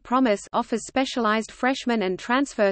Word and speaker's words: PROMES: The Program for the Mastery of Engineering Studies Program, or PROMES program, pronounced PROMIS, offers specialized freshman and transfer student curricula that emphasizes academic success strategies and personal and professional skills development.